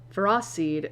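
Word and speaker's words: Ferroseed: So I was like, what is it actually like pronounced as? And apparently it's far and fered. Fro seed and frothorn as opposed to what I said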